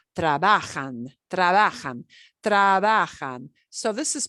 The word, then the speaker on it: trabajan: the punch the punch the stress generally comes on the second to last not the last syllable the second to last syllable trabajan so this is pronounced